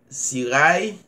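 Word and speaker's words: Cirail: Seulement taper Sirail, Sirail, C-I-R-A-I-L, comme ça se prononce.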